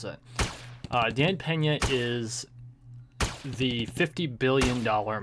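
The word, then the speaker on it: Dan Peña: who is I finally figured out how to pronounce it Dan Pena is the 50 billion dollar man he lives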